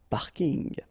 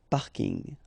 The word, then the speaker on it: parking: parking as well so I know it's coming from English but still you should pronounce it the French way parking parking okay and the last